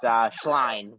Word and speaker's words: Schleien: I hope I pronounced your name well. No worries. Yeah, thank you so much for having me. It's Schleien, but I appreciate it.